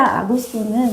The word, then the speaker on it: 아구스도: 다 호적하라 하였으니네 가이사 아구스도 로마의 첫 황제 옥타비아누스 이야기합니다 옥타비아누스 한문으로 이야기하니까 아구스도 이렇게 이제 발음을 하는 것입니다가 이사라는 말은 로마의